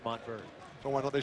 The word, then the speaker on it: Montverde: But it's pronounced Montverde.